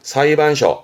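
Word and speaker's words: 裁判所: 발음은 사이반. 사이반. 여기다가 요렇게 붙이면 재판소. 그렇죠? 사이반쇼.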